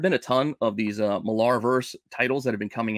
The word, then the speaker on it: Millarverse: I say Millarverse, I guess. I always want to pronounce it weird because it's got an A in it. It's not an E, but I think it's just pronounced Miller.